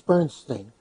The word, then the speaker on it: Bernstein: No, there are two pronunciations of that name, but in Wells it's Bernstein.